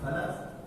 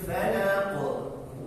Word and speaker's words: فلق: Qul a'udzu birabbil falaq. Qul a'udzu birabbil falaq. Dan qalqalanya harus muncul. Kalau tidak muncul, maka ini bacanya tidak sempurna. Harus falaq. Tidak boleh falaq. Hanya bisa falaq.